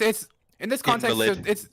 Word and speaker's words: invalid: In I'll this context, Invalid. it's pronounced invalid.